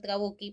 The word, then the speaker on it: Trabucchi: el autor Trabucchi, se escribe Trabucci, pero se pronuncia Trabucchi, por cierto, nos dice que para él, esta estructura sería así: el presupuesto abstracto y el presupuesto concreto. Para Trabucchi, el presupuesto abstracto vendría a ser la situación